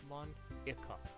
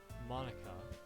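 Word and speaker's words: Monika: because telling your name mon that's not how you say my name at all Monica Monica also that joke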